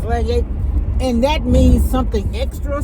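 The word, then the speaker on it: Lagniappe: It was Louisiana Cuisine, MANNY'S Mom, but now it's Louisiana Cuisine, and it's pronounced Lagnac, but it's Lagnac, and that means something extra.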